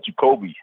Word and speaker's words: Jacoby: Well, the way we were saying it was Jacoby.